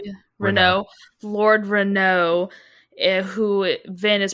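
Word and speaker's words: Renoux: Yeah, so he's like an impersonator, and essentially he impersonates Lord Renox. Is that how you say it? Renault.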